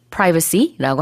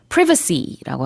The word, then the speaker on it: privacy: privacy도 발음이 두 가지인데요. 북미권에서는 보통 privacy라고 하고요. 영국에서는 privacy라고 합니다.